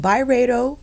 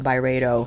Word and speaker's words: Byredo: Today we are covering the newly released Byredo, is it Byredo or Byredo?